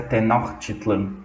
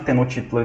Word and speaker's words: Tenochtitlan: nome Azteca de tenochitlan com a pronúncia mais próxima da língua dos Aztecas seria tenochitlan mas vamos chamar de tenochtitlan que é mais fácil então tenochtitlan foi fundado